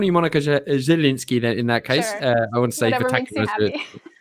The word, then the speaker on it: Zielinski: I said it wrong. It's not Zielinski. Zielinski. Monica Zielinski.